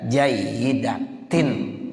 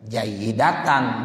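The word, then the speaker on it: جَيِّدَةٍ: Nah, makanya tadi saya tanya tuh bi asanida jayyidatin, tuh bacanya begitu. Bukan bi asanida ya jayyidatan, bukan, tapi jayyidatin.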